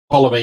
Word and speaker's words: Ptolemy: Ptolemy, you just miss out the P. Ah, okay. Silent Silent P.